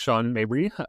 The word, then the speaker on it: Sean Mabry: Yeah, so my name is Sean Mabry, uh as Daniel correctly pronounced.